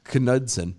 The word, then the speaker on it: Knudsen: Montana attorney general Austin you know the K is silent I know but you have to say the cup Knudsen knife uh led the